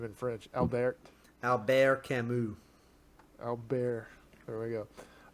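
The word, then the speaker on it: Albert Camus: recently too which I read The Stranger by Albert Kimu letron yeah exactly famous French author Albert or how do you say his name in French Albert Alber Camu Al bear there we go uh yeah but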